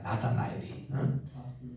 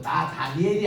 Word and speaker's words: 나다나엘: 나다나엘이. 여러분들 발음할 때 말이죠. 나 다니엘로 하지 마세요. 나 다나엘입니다. 따라합시다. 나다나엘. 이게 한번 자꾸 나다나엘 이렇게 하면은 교정하는 사람도 지금 나다나엘로 자꾸 나 다니엘이 아니에요.